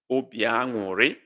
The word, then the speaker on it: obi aṅụrị: Obi aṅụrị, that's the way it's pronounced.